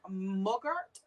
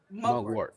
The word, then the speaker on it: mugwort: for you is am i saying it correctly mugger mugart mugwort thank you thank you um that herb is